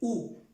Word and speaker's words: où: Cuando encontremos la O y la U, es como si pronunciáramos una U en español. Esta U o U con este acento, la misma cosa, se pronuncia igual, U, pero ya es de pregunta.